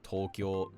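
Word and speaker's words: 東京: names almost always are pronounced in one of two ways. The first being flat with the heibon pattern such as Tokyo, Osaka, Ueno.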